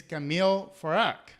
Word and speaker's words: Kameel Farag: tune in etc and today our guest is camille farak i hope i'm pronouncing your name correctly camille perfectly perfect very